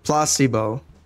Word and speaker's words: placebo: today after me uho the stress is on the middle Placebo very good you're fing